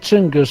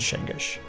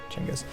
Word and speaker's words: Chinggis: Pronounced Chinggis, sir. Gumbush and Shingish. Chinggis.